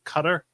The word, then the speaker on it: Qatar: Hey, with ethics complaint for spending $62,000 on lavish trips to Cutter, which I've learned that that's how it's supposed to be pronounced.Qatar.